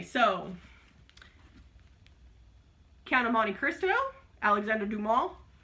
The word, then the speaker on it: Alexandre Dumas: Okay, so Count of Monte Cristo, Alexandre Dumas, which is the correct French pronunciation.